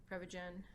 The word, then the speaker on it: Prevagen: under your name the prep how do you pronounce it prep again Prevagen they were selling part yeah they were selling